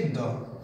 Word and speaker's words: the: किंतु वोवल से शुरू होने वाले शब्दों के पहले द आ जाए तो द का उच्चारण हम क्या करेंगे, दी। जैसे दिस इज दी आंट। तो थर्ड रूल है, अगर द के बाद आने वाले शब्द पर हम जोर देना चाहते हैं तो द का उच्चारण दी होता है, फिर चाहे वह शब्द कॉन्सोनेंट से ही शुरू क्यों ना हो।